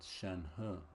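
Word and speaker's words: Shenhe: acquainted with shenu to some degree shenu you pronounce it shenu okay cool so what's her adeptus name any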